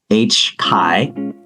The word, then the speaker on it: HCAI: So again, folks, check out the website, HCAI. I learned that's the correct pronunciation, hcai.ca.gov.